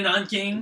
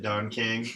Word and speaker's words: Nanking: Isn't it actually the rape of Nanking? Yeah, Nanking. But for some reason he pronounced it Don King, and he's like, I didn't know Don King was raped.